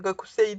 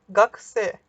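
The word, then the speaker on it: がくせい: korseyi şeklinde olmasını gerektiriyor Fakat böyle özel bir okunuş var burada kilo sesi yutuyor Yani artık fark etmeyeceğiz şekilde telaffuz ediliyor sondaki İyi de düşüyor telaffuzunda bu bunu özel bir durum gıda x şekilde okuyan gakusei değil de gags T şeklinde Hani göre göre belki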